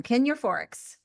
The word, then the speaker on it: Kin Euphorics: Kin Euphorics.